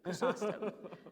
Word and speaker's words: Chrysostom: But Calvin, Augustine, and Chrysostom, I can never pronounce that name. John, anyways, I read his... Thank you, Chrysostom.